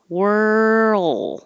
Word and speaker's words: whirl: where were you whirl as you move from the r to the l keep your voice going and that's what makes the roll noise world if you don't it will we can't hear the l and it'll sound like number 25 word like you're just going word instead of whirl the l and d are made in the same place so you have to hold it all and make the l noise a little longer